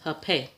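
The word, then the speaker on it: hapé: And as you see, it says it's pronounced hape.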